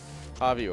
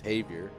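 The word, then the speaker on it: Javier: Javi took like two three years before he like the saying like um Javior or something. He's like no it's Havier and now he goes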